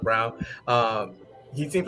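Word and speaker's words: Christian Braun: brown fell braun but christian brown like he's pronounced brown um he seems like a big dante de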